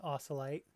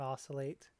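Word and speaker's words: Ausalight: my name is my youtube channel name is AUSA light which is how you pronounce it it's not oscillate as many many people seem to think it is first glance I have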